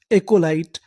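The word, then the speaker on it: acolyte: और आखिरी में लिखा है टी ई। इसे क्या पढ़ना है? ट। क्योंकि आखिरी में लिखा है इ ई का हमें उच्चारण नहीं करना। तो पूरी मीनिंग क्या बनी?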